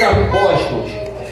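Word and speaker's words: ἀπόστολος: Então, a pronúncia no grego fica assim: apóstolos, no grego, tá?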